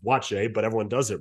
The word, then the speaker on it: Buatsi: Like, people don't understand that Joshua Buatsi isn't even how you pronounce it. Yeah. But they just sounded out and they just said, yeah, it's Joshua Buatsi, and they roll on with it. When in actuality, you ask him, he's like, no, it's pronounced Boache, but everyone does it wrong.